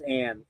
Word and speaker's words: Jan: His name is Jan, but it's pronounced Ann, A-N-N-E.